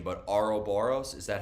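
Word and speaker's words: Ouroboros: me if I uh butchered the pronunciation but Aro boros is that how you pronounce it oh yeah or Boris okay Aura Boris and apologies um but what if no one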